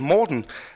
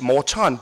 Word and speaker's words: Morten: a Dane called Morten, there's two places in the US they can say my name. One place is up in Minnesota. Apparently they know how to pronounce Morten. The rest of the world here, it's Morton because apparently I'm a salt.